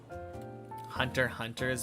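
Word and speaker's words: Hunter × Hunter: Hunter Hunter's best anime ever. Very solid anime. forgot to pronounce the X. That's because it's not pronounced.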